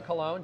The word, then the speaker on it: Colon: gonna bring in colon am I pronouncing your last name right I only know you from the internet you're you are pronouncing it correct how you doing John